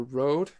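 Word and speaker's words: Røde: Sounds like a Rød or Rode, wherever you're from. I'm from Denmark. We pronounce it as Rød.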